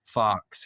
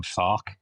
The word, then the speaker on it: Farke: Because it pisses me off when we all call him Farke when his name is pronounced Farke.